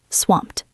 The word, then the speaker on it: swamped: Do not say swamped. Ed. It is one syllable. Swamped. The e is silent.